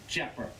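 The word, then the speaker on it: Tjepper: called the Jaguar t-j-e-p-p-e-r that's a Dutch name but you don't pronounce the T you just say jeopard she was built in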